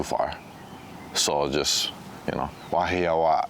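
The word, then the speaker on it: Wahiawā: Well, when we stack ourselves up against them, the pronunciation is wahawa. And there's a slight, you know, hold on that last a wahi means a place essentially, and awa is a loud noise.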